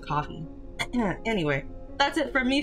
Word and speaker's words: Ko-fi: Or Ko-fi? I pronounce it coffee.